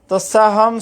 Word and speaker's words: তস্যাহং: অনন্য চেতঃ সততম ইয় মাম স্মরতি নিত্যসহ তস্যাহম সুলভ পার্থ নিত্যযুক্তস্য যোগিনঃ অনন্য চেতঃ সততম ইয় মাম স্মরতি নিত্যসহ। এটা অনুসার এবং বিসর্গ, অনুসারকে হ উচ্চারণ করতে হয়, অনুষ্কারকে ম উচ্চারণ করতে হয়, বিসর্গকে হ উচ্চারণ করতে হয়।